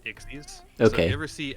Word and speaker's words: Xyz: uh x ixes uh it's spelled x y z and pronounced ixes okay never see x